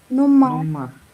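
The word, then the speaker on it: Nummer: আর উচ্চারণ হবে না কে বলল সে কিন্তু সঠিক বলছে আর উচ্চারণ হবে না তখন হবে মানে নুমা মানে নাম্বার ঠিক আছে তো নুমা নুম্মা এরকম একটা উচ্চারণ হবে তাই না আর লাস্টে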